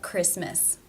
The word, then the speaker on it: Christmas: vowel examples about fitness there are some words that are just written with a silent T for example Christmas whistle mortgage these unfortunately just need to be learned there is one case